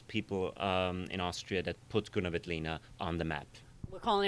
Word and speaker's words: Grüner Veltliner: You got to go, Grüner Veltliner. Sounds like an illness.